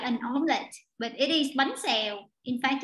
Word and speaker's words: bánh xèo: Bánh xèo.